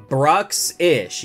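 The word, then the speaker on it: Bruxish: ish did I even say the name right Brooks ish yeah that's how you say it but oh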